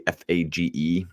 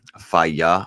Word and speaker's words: Fage: The brand that I like is actually Fage, Faya, I think is how you say it.